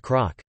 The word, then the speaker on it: cnoc: The word CNOC hill would therefore be pronounced croc.